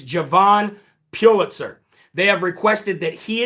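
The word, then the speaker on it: Jovan Pulitzer: night and I got his right name um Javon Pulitzer. It's not Hovind Pulitzer, it's Javon Pulitzer.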